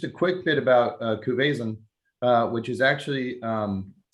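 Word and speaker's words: Cuvaison: and uh just a quick bit about uh cuvezan uh which is actually um pronounced kube song uh so i'll give you a little uh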